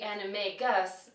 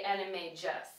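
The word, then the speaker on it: Animagus: transform into an animal now it looks like it would be anime Gus but it's actually anime J the next is beor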